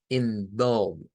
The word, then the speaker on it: involve: Entonces, el sonido aquí es involve, involve. Es como querer decir una letra A, pero en forma de O.